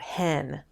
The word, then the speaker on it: ἕν: want to point out hen not n but hen here rough breathing mark one it's also up